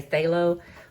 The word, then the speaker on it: phthalo: And then I've included I just abbreviate the pronunciation to say phthalo.